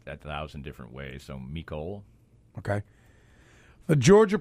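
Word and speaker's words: Mecole: heard it pronounced a thousand different ways so mikole okay the Georgia pronunciation guide yes because there's not a Chiefs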